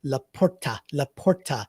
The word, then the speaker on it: LaPorta: And I certainly should say that Laporta is how I should pronounce that from here on out.